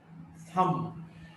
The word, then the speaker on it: thumb: Now this letter B in the sequence or in the cluster MB, when B is preceded by M, this B is not pronounced. Thumb, Thumb, thumb, this B is not pronounced.